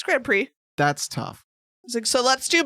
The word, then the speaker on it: grand prix: playing mario kart and i was like grand prix they're like no like i see what i did there i read the word as it's spelled sort of but you're right i was wrong it's grand prix that's tough so let's